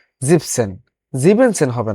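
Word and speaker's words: siebzehn: এস বাদ যাবে এবং জিপসনের ক্ষেত্রেও একই এস এন বাদ যাবে জিভেন সেন হবে না জিবেন সেন হবে না শুধু জিপসন হবে আর জ্যাক্স সেন হবে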